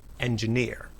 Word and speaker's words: engineer: syllable is stressed accounting in engineer the third syllable is stressed engineer the stressed syllable sounds